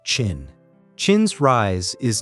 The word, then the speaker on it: Qin: And one state takes this transformation further than all the others, Qin, pronounced Qin.